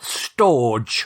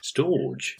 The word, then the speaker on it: storge: to pronounce and there's it's spelt storge storage to me that sounds like a steam pudding but that's probably a whole new episode uh it's storge it's it it's spelt s-t-o-r-g-e storge and that's a natural